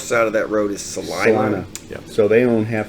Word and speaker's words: Salina: up well you know in Salina rhymes with Regina oh yeah well John